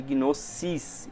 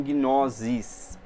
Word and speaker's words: gnosis: ter som de C e não de Z, Então o nosso S aqui é de gnosis e não gnosis, tá?